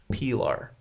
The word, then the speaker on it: Pilar: believe was from Spain so the knife is pronounced Pilar just in case anybody was wondering I I